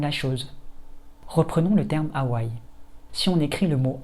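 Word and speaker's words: Hawaiʻi: Si on demande à plusieurs personnes françaises de lire ce terme, la plupart répondraient Hawaï. C'est d'ailleurs la façon dont je le dis dans cette vidéo. En fait, c'est loin d'être la meilleure prononciation. Si l'on veut se rapprocher de la prononciation la plus naturelle possible, il faudrait plutôt dire Hawaï.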